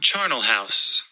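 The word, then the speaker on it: charnel house: okay um I do not know how to pronounce that word Place associated with violent death okay hold on yeah charal house I did it right Char cool that doesn't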